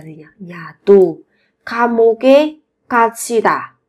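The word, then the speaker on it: 갇히다: nhỉ nhà tù 감옥의 가치다 các bạn chú ý về cái phát âm là thành 가치다 bị nhốt vào trại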